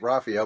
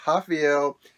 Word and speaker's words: Rafael: I said it right because I usually think Rafael, but no, it's Rafael Dos Anjos.